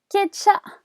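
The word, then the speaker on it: སྐད་ཆ: Then we've got the second word is Kecha, and that's conversation. Conversation is composed of two syllables here.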